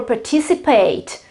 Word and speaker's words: participate: In the British English is participate, and in the American English is participate.